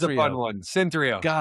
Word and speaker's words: Synthreo: Sapion from Ctho. Did I pronounce that correctly? Cyntho. It's a fun. It's a fun one. Cynthrio.